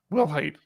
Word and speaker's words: Wilhite: i didn't i moved real hard will height will height stephen wilhite the creator of jiff our gif has passed away at age 74.